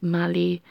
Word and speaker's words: mali: It doesn't have the accent on the L, so it's just Mali.